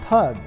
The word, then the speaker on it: pygg: than they do today during the time of the saxons pygg would be pronounced pug but as the pronunciation